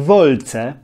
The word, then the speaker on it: Volcae: ich Rzymianie nazywali ich co w tradycyjnej polskiej wymowie łaciny przeczytali byśmy wolce ale w klasycznej łacinie